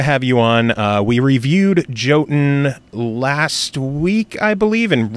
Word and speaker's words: Jotun: So for the people who don't know what Jotun is, or Jotun, as I was told on your Reddit AMA, it's actually Jotun and not Jotun.